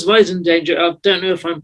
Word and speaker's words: Wiesendanger: brother hello welcome to the show oh it's voice in danger i don't know if i'm pronouncing that right that is correct for producer